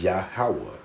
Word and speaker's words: Yahweh: And I'm not going to play it because it's going to mispronounce his name on purpose, but it's Yahweh.